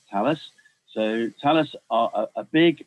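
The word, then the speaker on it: Thales: who tell us are it's pronounced tell us a lot of people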